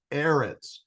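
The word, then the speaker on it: אֶרֶץ: about the promised land the vowels underneath the consonants in erit are two SEALS or E sounds and it would be pronounced erit so when Jews talk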